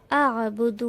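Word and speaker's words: أَعْبُدُ: লা আ'বুদু মা তা'বুদুন। এখানে লাম আলিফের উপরে যেহেতু ছোট মাদ রয়েছে তাই 3 আলিফ টেনে পড়তে হবে। আ'বুদু। আ এখানে আইনের উচ্চারণ গলা থেকে করতে হবে।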